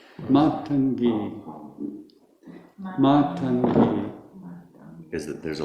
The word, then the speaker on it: Matangi: Matangi. Matangi. Matangi. Is that there's a long. It's the first A is long and the ending E is long.